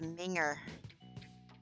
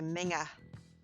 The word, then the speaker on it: minger: Word is minger. Only you don't say it like that. You say minga.